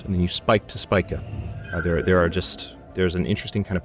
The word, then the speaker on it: Spica: Yep, Spica. It's actually Spica.